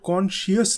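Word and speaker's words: conscious: बहुत से लोग इस वर्ड के स्पेलिंग गलत इसलिए लिखते हैं क्योंकि वो इसे मिसप्रोनाउंस करते हैं. ये वर्ड कॉन्शियस नहीं है, इसकी करेक्ट प्रोनाउंसिएशन है कॉन्शियस. इसमें आई साइलेंट है.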